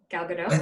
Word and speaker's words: Gal Gadot: with and I picked gal gadot I can never pronounce it Oh gal gadot you know you pronounce the T you're good the first time yeah okay so I picked gal gadot and we see her